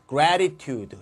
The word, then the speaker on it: gratitude: 요거 조심할 건 발음을 조심해야 되는데 요거는 grateful. 자, grateful이고 얘는 gratitude 이렇게 됩니다.